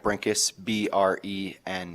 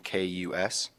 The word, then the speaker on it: Brenkus: It's Brinkus, Brenkus. Please proceed.